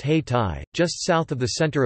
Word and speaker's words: Hayti: Durham quickly developed a vibrant black community, the center of which was an area known as Haiti, pronounced Hay-Tai, just south of the